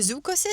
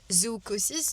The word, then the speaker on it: zoochosis: Je suis tombée sur les réseaux sociaux sur un phénomène qui s'appelle zoochosis. Donc ça s'écrit Z-O-O comme le zoo. Chosis comme C-H-O-S-I-S. Et en fait, c'est un phénomène sociétal, psychologique qui a été remarqué chez l'humain.